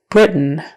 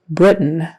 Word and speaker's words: Britain: is a z Louisiana Britain Britain so that final syllable is more like just an n Sound we say Brit and then we make the end sound Britain Britain Britain um